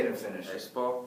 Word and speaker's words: Espoo: Espoo. Espoo.